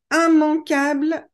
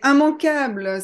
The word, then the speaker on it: immanquable: Seulement dans la catégorie IM, vous avez immanquable, immangeable et immétable. Alors normalement, quand on a IMM, I2M, on doit prononcer IM, sauf pour ces trois mots. Et immanquable, ça veut dire qu'il ne faut pas manquer.